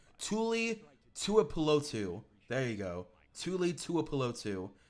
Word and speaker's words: Tuipulotu: I'm not really high on Tuli Tuipulotu. I butchered that name. Tuli Tuipulotu.